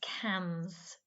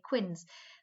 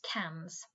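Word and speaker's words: quinze: this one is a tricky one this is cams okay it's spelt q-u-i-n-z-e people often say quinn's but remember that's pronounced cams okay so 30 we used to saw is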